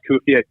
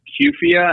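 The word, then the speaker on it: Cuphea: year sure so so some people pronounce the pronounce kfia CIA I think either way correct um but the nice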